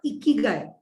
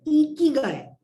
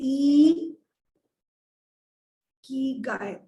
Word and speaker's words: ikigai: simplify this okay so firstly it is not eeky it is eek guy okay e Guy this is the correct